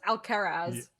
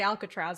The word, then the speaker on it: Alcaraz: free tech and carlos alcaraz yeah very uh difficult to pronounce spanish name there because you i want to say alcatraz obviously but it was like